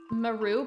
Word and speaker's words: Maru: guys pronounce her name I've seen some people that'll pronounce it like meru but I say Maru I build you